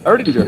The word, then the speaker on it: Erdinger: Is that how you pronounce it? Yep, Erdinger.